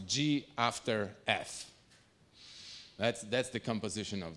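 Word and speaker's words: g ∘ f: the composition is uh this is pronounced G after F that's that's the composition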